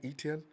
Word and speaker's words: Etienne: I was looking at Etienne because I'm thinking, is that how I pronounce his name right, Etienne?